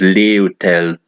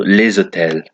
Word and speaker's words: les hôtels: In many French words, the final consonant is silent, but in some situations, you may need to pronounce that sound when it's followed by a vowel or a silent H.